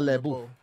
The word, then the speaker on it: LeBeau: Is it LeBeau or LeBeau? LeBeau. LeBeau. Don't pronounce the Just forget the F. LeBeau. Is there an F There's in no there? F. There's no F.